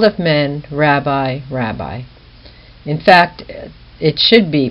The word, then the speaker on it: Rabbi: markets and to be called of men Rabbi Rabbi in fact it should be pronounced rabi even in Greek but also in Hebrew and